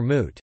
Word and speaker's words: moot: didn't work out and I called it mute for moot it's like a cow's